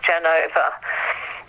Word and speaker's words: Genoa: Yeah, I'm artist in residence, as you say, in the old psychiatric hospital in the fourth quarter in Genoa, in Italy, so sometimes pronounced Genova.